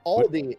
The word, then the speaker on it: Aldi: Is it supposed to be Aldi's or No.